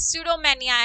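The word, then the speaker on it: pseudomania: बोलनी ही होती है, it's known as स्यूडोमेनिया एंड पी is silent in this word.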